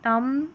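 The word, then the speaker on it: thumb: बी से पहले एम रहता है तो बी साइलेंट रहता है आखिर में। ठीक है? स्पेलिंग के लास्ट में। तो यहां पर देखिए बी नहीं पढ़ा जाएगा। तम लम कॉम तो यहां पर बी का उच्चारण नहीं है।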